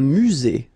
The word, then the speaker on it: musée: Un musée, final E, not pronounced.